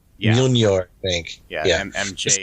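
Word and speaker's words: Mjölnir: In the legend, this eventually puts Thor on the quest that leads to the creation of Mjornir. I do not know how to pronounce that.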